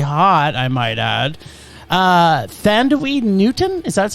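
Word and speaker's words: Thandiwe Newton: but still broodingly hot i might add uh thandaweed newton is that's how it's pronounced it's just it's just candy she's now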